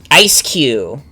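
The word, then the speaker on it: Eiscue: Ice Q. That's how you say its name.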